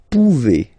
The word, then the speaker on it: pouvez: Then vous pouvez. Okay? Classic ending as well for the vous form. A Z like that. Okay? Remember you pronounce it E.